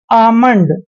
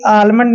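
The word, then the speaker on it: almond: ही पाम पाम जैसे आमंड देखिए यहां पे ध्यान से देखिए इस एग्जांपल में एम से पहले एल आया है तो एल हमने छोड़ देना है अब क्या होगा ए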